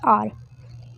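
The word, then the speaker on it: hour: एच ओ यू आर ये होता है आर अ से शुरू होता है। हाउ नहीं होता।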